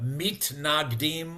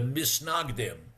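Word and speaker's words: מתנגדים: heard the term the depending on how you pronounce it, either in Hebrew or in Yiddish, either the mit nagdim or the misnagim, right?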